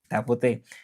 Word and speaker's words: tapote: Tapote. This how you say it in French.